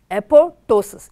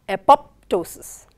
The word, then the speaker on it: apoptosis: How do you pronounce the word apoptosis? As I said, it is apoptosis. It is not apoptosis.